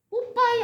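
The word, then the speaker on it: Popeye: 자, 이 단어 혹시 읽으실 수 있는 분이 계실라는 모르겠는데 자, 직역하면 그냥 발음한 뽀빼 예 이러는데 우리나라 저기 TV에 나오는 캐릭터 이름으로는 뽀빠이거든요. 뽀빠이 아세요?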